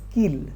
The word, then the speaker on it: kiln: Peter is Sam's skin Now kill it is pronounced as kill okay it's an oven